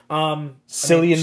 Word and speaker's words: Cillian: Cillian Murphy. Ooh. Killian? Is that how you say pronounced Killian, yeah.